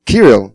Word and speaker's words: Kirill: It's Kirill, yeah? Sometimes even I get confused how it's spelled.